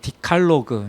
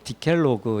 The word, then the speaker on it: 디칼로그: 자, 십계명 이것은 이제 그 디칼로그 이제 뭐 디칼로그라고 이제 저는 발음을 이렇게 했는데 영어로는 디켈로그 이렇게도 이제 발음을 할 수 있는데요.